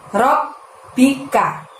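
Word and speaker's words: ربك: Dan berikutnya lafadznya adalah Robbika. Robnya kita tekan dan tahan selama 2 harokat baru diikuti bunyi huruf B. Robbika.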